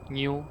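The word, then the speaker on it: GNU: se conocen como linux el nombre correcto es new que se pronuncia con linux después otras herramientas con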